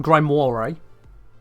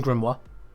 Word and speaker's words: grimoire: that book stuff yeah the grimma definitely not pronounced Grim War definitely grimo this crazy crazy thing